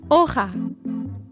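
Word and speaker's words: hoja: to say leaf in Spanish you would say OA would you guys like to try saying it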